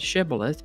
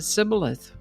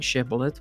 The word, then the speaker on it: shibboleth: The Gileadites pronounced the word with the SH sound, shibboleth, but the Ephraimites pronounced it sibboleth without the SH sound.